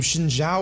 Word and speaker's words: Xin Zhao: I understand I should say his name Xin Zhao or something like that. but I feel like my pronunciation is quite off, and I tried to record this already saying that name in the flow of speaking, and it didn't come out so well, so I'm just gonna say